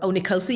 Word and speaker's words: Onikosi: Here we are, LITC podcast, and we have Onikosi. Did I pronounce it right? Onikosi, you did. Onikosi.